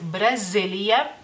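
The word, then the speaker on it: Brazilija: continente sudamericano y bueno Brasil en lituano es Brasilia Brasilia sí cambia algo el como lo escribimos y como pronunciamos digamos el nombre del país se lo pongo en la pantalla pantalla es Brasilia Brasilia la z como pueden escuchar se escucha como si fuera una bejita Brasilia y es en femenino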